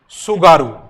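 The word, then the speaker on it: Tsugaru: जिसको कहा जाता है सुगारू। क्या नाम है इसका? सुगारू जल संधि। इंग्लिश में पढ़ोगे तो टी से स्पेलिंग इसकी स्टार्ट हो जाएगी, TS, टी साइलेंट रहेगा।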